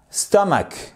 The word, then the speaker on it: stomach: my stomach non stomach stomach faites attention là-dessus sur ces quatre lettes vous avez l'accent tonique stomac i have butterflies in